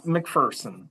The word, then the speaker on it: McPherson: Now, if you really want to put a smile on your face, okay, I'm saying McPherson is the preferred pronunciation, McPherson? It is McPherson.